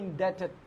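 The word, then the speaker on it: indebted: ইনডেপের এই যে ডি ভি বিট উচ্চারণ করবো না, তাহলে কি হবে? ইনডেটেড, ইনডেটেড, grateful.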